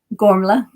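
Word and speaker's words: Gormflaith: talk about warm faith can you help me pronounce it correctly gormla and thank you very much for uh providing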